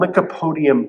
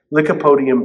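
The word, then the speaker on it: lycopodium: And then I found this online uh this substance called licapodium powder. Licipodium powder. So sounds like uh lick a podium, but it's spelled L Y O P O D I U M.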